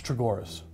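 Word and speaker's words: Chogoris: It's Chagoras.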